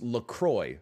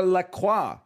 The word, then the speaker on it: LaCroix: this before but your your company is called la la but you're like nah dude it's lacroix okay fair enough i'll pronounce it lacroix then why are all your flavor names in french if you wanted the french pronunciation you should accept that you are la croix not lacroix otherwise yeah oh can